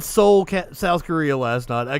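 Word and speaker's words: Seoul: kept trying to say I should have just said Soul South Korea last night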